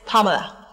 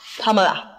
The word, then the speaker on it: Pamela: don't spoil my name it's Pamela you open your mouth ah pamala don't worry you're too local can't pronounce it you might even call it it's not Amala Pamela P Pamela it's a conservative name